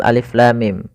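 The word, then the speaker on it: الم: Jangan sampai kita membacanya misalkan alama misalkan ini bacaan yang kurang atau bacaan yang salah ya. Maka apa yang perlu kita kerjakan di sini? Maka kita harus baca dengan huruf-hurufnya. Maka kita uraikan satu-satu alif.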